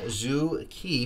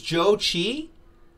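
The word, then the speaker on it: Zhou Qi: out of 185 so phonetic pronunciation of keys first and last name is Joe Chee ah I'm saying it wrong the entire time there's the Fox all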